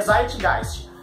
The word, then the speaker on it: Zeitgeist: verdade descreve gente gente só que a pronúncia em alemão a palavra alemã então a pronúncia é site gás como você sabe disso